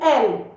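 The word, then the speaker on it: elles: So, we don't pronounce the S. It is il L.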